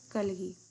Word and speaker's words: کلگی: اچھی سٹوری تھی۔ اچھا ٹھیک ہے، سب سے پہلے میں آپ کو تلفظ پڑھنا بتاتی ہوں۔ تو پہلا ہے کلگی، کاف زبر لام غین یہ کلگی، ٹھیک ہے، اس کا